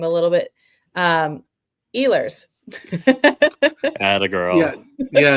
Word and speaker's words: Ehlers: Um, Eers. Add a girl. Yeah. Yeah. again. Eers.